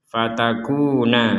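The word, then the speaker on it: فَتَكُونَا: Wala taqraba hadhihi syajarata fatakuna minadh-dhalimin. Perhatikan di sini fatakuna. Nah, di sini nunnya ada alif di depannya, maka kita memanjangkan 2 harokat. Fatakuna, jangan sampai tidak panjang.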